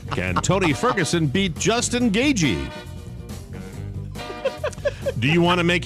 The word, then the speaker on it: Gaethje: Gagey. Gagey, I know. Rob gave me like a lecture before the show started. A pronouncer.